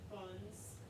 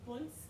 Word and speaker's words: Bunds: It's not pronounced buns. Ah. It's not pronounced buns. Hinka, don't ruin my fun. It's Bunds, like the Bundestage, which is the German Congress.